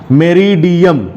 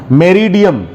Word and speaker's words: meridiem: एंड मेरिडियन, मेरिडियम, MERIDIEM, मेरिडियम। So anti मेरिडियम, anti मेरिडियम ये full form है एएम का, एएम का full form हो गया एंटी मेरिडियम।